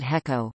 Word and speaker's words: HECO: Electric Company often abbreviated HECO pronounced he Co H incorporated on October